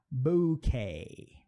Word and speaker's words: bouquet: né, do W, mas pode acontecer aqui como em bouquet, de a letra U sumir, como eu falei que